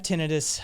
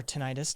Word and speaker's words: tinnitus: uh neuropathy i have tinnitus as well or tinnitus depending on your pronunciation i've heard it both ways both ways from ents